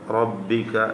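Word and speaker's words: ربك: ശ്രദ്ധിക്കേണ്ട കാര്യം സബ്ബിഹസ്മ റബ്ബിക റബ്ബിക എന്ന റാനെ തഫ്കീം ചെയ്യണം അതുപോലെ റബ്ബികൽ അന് പ്രത്യേകം ശ്രദ്ധിച്ചുകൊണ്ട് ഉച്ചരിക്കുക എന്നായി സബി ഹിസ്മ എന്നായിരുന്നു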